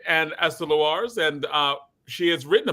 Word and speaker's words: Lewars: And also Ester Lewars, and I'm pronouncing that correctly? Correct. All right, and Ester Lewars, and she has written a book, and the